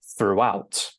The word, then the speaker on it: throughout: And then finally, with the stress timing, we stress the second syllable. So this is pronounced throughout. And you can hear that there's a little bit of an intrusive W sound between the pronunciation of through, which is exactly the same as this one, and out, okay? Throughout. And it's perfectly normal to add that little W sound, but obviously not to